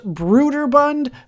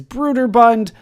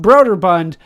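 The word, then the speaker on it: Brøderbund: yes it is pronounced brooder bund there is a slash through the o and that is how i am told they would like that pronounced is brooder bund not broderbund the way that i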